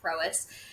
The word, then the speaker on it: Prois: anything to do with the way that we pronounce it. Everybody at Prois just calls it Prois.